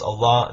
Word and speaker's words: Allah: And in Arabic, it's pronounced Allah.